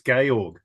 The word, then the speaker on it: Georg: I think it's it's Gayorg. Gay. Gayorg. like George, but it doesn't have the E on the end.